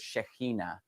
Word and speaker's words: Shekinah: want to talk about the word Shekinah or sometimes you'll hear it shahina different ways to pronounce it now I grew up